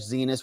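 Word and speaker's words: Xinis: Judge Boasberg hates it, how bad Judge Zenas rhymes with hates it, or George Conway.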